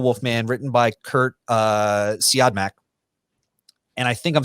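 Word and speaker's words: Siodmak: heard it said so i think it's how you pronounce uh see odd mac but curtsy automatic wrote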